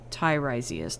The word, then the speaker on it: Tiresias: To break it down, correct way to pronounce it... Oh, your name. Tiresias.